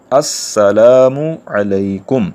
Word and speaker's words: السلام علیکم: کو حاصل کر سکیں۔ تو اصل تلفظ کیا ہے؟ السلام علیکم، السلام علیکم۔ تو ہم سب کو